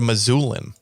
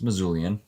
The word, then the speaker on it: Missoulian: say it missoulian or is it a missoulin it's missoulian that's terrible okay sorry